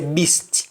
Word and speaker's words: beast: the beast they bow in english we say beast we pronounce the t at the end but in jamaica and we simply say beast beasts white the beast